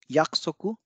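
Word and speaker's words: 約束: them meaning a lot next is yaksoko yaksoku means promise and here again and appears and a o appears in between them so o gets divised yaksoku yaksoko yoroshiko very very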